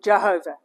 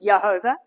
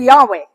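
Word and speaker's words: יהוה: We write it as y hv and we put vowels in it and say yhovah or Jehovah. But there's no j in Hebrew but yhovah. Yeah. Or Yahweh.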